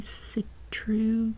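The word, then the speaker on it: Sitroux: Save your fine linen hankies with dainty citrus kerchiefs. Citrus, I think is how we say that. Citrus. Oh, hey, it even tells me how to say it. Say citru. I got it right.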